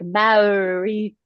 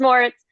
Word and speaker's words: Moritz: A lot of people like butcher it and they're like Marit or something and it's like nope, it's just Moritz. It sounds like there's a no, but there's really not.